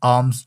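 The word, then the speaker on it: alms: He gives आर्म्स to poor. अब यहां पे क्या है? आईल साइलेंट है।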